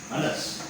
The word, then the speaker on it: Anas: Unnode name எப்படி pronounce பண்ணுவோம்? Anas.